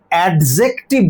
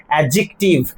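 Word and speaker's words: adjective: তাহলে অ্যাডজেক্টিভ বলি আমরা ভুল করে, ডিটা সাইলেন্ট হয়ে রাখবে, উচ্চারণটা হচ্ছে অ্যাডজেক্টিভ। তাহলে যদি টাকা থাকতো, কথাটার মানেটা কি?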